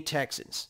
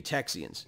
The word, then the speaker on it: Texians: were many many many texans excuse me texians i got to say it correctly there were many texians